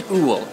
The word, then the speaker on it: Woowol: It's Woowol, that's how you pronounce it.